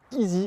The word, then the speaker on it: i:SY: Petite confidence, cette marque il est longtemps appelée Iai, ce qui veut absolument rien dire. Et quand on m'a dit que ça prononcer easy, et bien évidemment j'ai tout de suite compris.